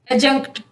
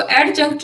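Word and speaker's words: adjunct: Helping verb, verb, object, complement, adverbial, एडजंक्ट। इसको एडजंक्ट नहीं पढ़ना, एडजंक्ट। साइलेंट लेटर्स में हम पढ़ चुके हैं इसका रूल।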